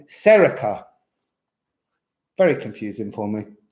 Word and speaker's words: Saoirse: I had a pupil once, and her name was spelled Saoirse, but she was called Serica.